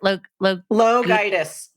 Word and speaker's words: LoGiudice: Her last name, it sounds like how did you pronounce it? LoGiudice.